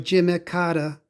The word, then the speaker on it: Jimmy Carter: people pronounce his name jimmy carter uh he's from the south in the south it's probably pronounced more like jimmy kata his wife uh her